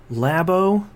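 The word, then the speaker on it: Labo: stories Nintendo announces the Nintendo lab oh is how I believe it's pronounced yeah I've had didn't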